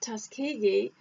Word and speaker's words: Tuskegee: t washington and somebody kindly told me to pronounce it tuskegee which is the institute that he established and